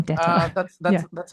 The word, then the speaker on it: DETR: Is that the pronunciation? I was Yeah, saying DETR. that's Yeah. that's how I pronounce it. Yeah. Well, I mean, Yeah. being that you're in Germany, I think Dieter is more.